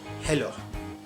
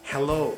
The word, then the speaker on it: hello: l sound you know in Turkish this l sound is like Le that's why most of the Turkish people say hello hello hello so this is wrong the right way is like this hello hello hello and most